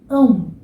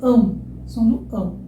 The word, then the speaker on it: ão: Agora, não é A, é um Então, o que você vai fazer? Você vai tentar jogar o seu ar bem no nariz. O é um som nasal, tá?